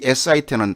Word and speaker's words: sit: 이 SIT는 단모음이라고 짧게 발음해요. sit. 근데 SEAT는 seat.